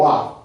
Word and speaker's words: waqf: Well, the problem that they don't realize is when you do that in Islam, it's called it's called waqf. W-A-Q-F. It's pronounced, it doesn't pronounce like it spells.